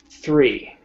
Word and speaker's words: three: Three. Three. Three. Three. Better. Perfect. Three. Three. Three. Three. Through. Through. Okay, so three, we go from a th to an e, a long e sound.